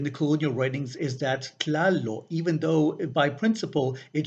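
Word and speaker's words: Tlāloc: So what would have been pronounced Tlāllò because of those linguistic phonological rules became pronounced as Tlālò instead.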